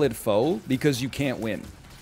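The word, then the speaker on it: pho: because you can't win if you ever say hey let's go out for foe you run the risk of somebody being like actually that's it's called fu and you have to be like i know i just didn't know if you knew which is why i called it foe in the first place and if you say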